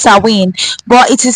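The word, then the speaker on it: Samhain: wi yes it's pronounced sa rather saen it's pronounced saen but it is spelled as s a m h a i n but it is pronounced sinen so sin Mark The End of the harvest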